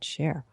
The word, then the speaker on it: Scher: So that's, and she pronounces it Scher, Amy Scher.